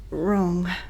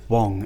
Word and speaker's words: Wrong: Wrong. It's pronounced Wong, actually. The R is silent.